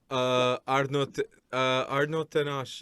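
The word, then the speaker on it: Arnau Tenas: Arnaud Tenache for Barcelona. Arnaud Tenash.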